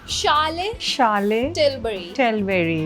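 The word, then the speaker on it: Charlotte Tilbury: शार्लेट टिलबरी का mummy pronounce करना। शार्लेट टिलबरी। शार्लेट टिलबरी।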